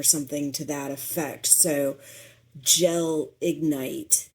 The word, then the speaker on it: gelignite: So Gelignite, it sounds like two words. It is written as one word. So Gelignite.